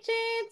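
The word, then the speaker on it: cet: This is, you know, though it's a C, we pronounce it as CH.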